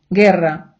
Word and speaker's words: guerra: цю у не читаємо Якщо ця у іде з двома крапками ми її читаємо давайте ще раз Герра гітара у не читаємо пінгуно гуня у